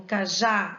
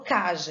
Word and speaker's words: cajá: Então, por exemplo, cajá, eu não falo caja, eu falo cajá. A sílaba tônica está no já, termina em A, leva acento.